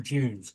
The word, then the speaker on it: dune: Dune with a D. No. The English pronounce it as it D with a J.